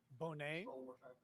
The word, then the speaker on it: Boughneit: That is state versus, and I'll just spell it. It's BOUGHNEIT. Bonet.